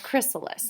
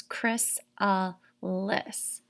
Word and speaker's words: chrysalis: little spelling um and how to say the word chrysalis and they kind of spelled it out how it sounds chris uh lis stage four is the